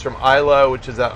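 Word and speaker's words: Islay: brick logic makes very peaty whisky it's from Isla which is an island that's kind of in between Scotland and Ireland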